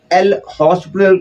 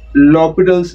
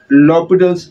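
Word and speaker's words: L'Hôpital: students name it as l hospital rule which is not correct the correct pronunciation is lobital's Rule because in the name H is silent and there is no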